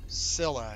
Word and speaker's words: Scylla: Scylla is how you pronounce it.